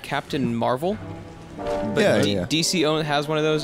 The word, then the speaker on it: Mar-Vell: His name is Mar-Vel, like Mar-Vell.